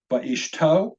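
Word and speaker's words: וְאִשְׁתּוֹ: The first word is va'ishto. The first syllable does in fact have a shva. It's a vocal shva, va.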